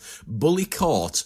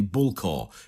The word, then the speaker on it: Bullecourt: the way how do we say this name bully C is how most Australians who who have not heard it's been spoken because that's what it looks like Bully C but it's actually bulla is the the way that uh we pronounce